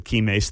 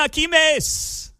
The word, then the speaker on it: Kimes: I'll just stick with the Kimes thing. It sounds good. Rhymes with dimes and limes.